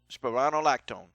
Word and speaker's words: spironolactone: Spironolactone. That's how I pronounce it.